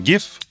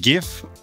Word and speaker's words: GIF: Is it GIF or is it GIF? The man who created the format, Steve Wilhite, says GIF. But most people will say it like they read it, GIF. Unless you're a designer or you're particularly nerdy, then it'll be GIF.